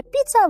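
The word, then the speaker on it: pizza: Піца - це піца, важива - це овочі. Що цікаво, піца пишеться як пізза, але читається правильно піца, тому що це запозичене слово.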